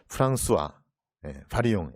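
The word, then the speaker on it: François Varillon: 불어 배우신 분들은 아니시겠지만 프랑스와 바리옹. L자가 두 개가 있는데 L자를 발음을 안 해요, 그렇죠? 또 앞에 S자가 뒤에 있는데 S자 발음 안 했죠, 그렇죠?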